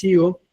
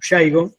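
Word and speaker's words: Shigo: Originalmente, hay un patólogo forestal, que ya no vive más, que se llamaba Alex Yigo, o Yaigo, si lo quisiéramos pronunciar mejor.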